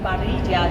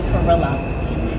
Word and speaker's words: Parrilla: And it's partially why he had to change their pronunciation from parrilla to parrilla. And some people in my family say parrilla. And I'm like, no, it's parrilla.